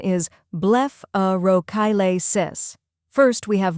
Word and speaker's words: blepharochalasis: The correct pronunciation is blepharochalasis. First we have bleph, where it sounds like blef in bleph, rhymes with chef.